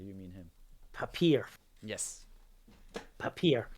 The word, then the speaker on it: Papierfresse: Papier. I was going papier, wouldn't I? I was doing it French, not German.